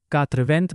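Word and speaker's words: quatre-vingts: हमें last lesson में सिखाया था कि 80 को कात्रिवंतें बोलते हैं।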